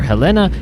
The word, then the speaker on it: Helena: of helena it whether you say helena or helena as i was corrected on the prime news